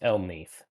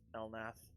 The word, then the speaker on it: Elnath: It's Elneath. Yeah, he actually hates it when you pronounce it as Elnath.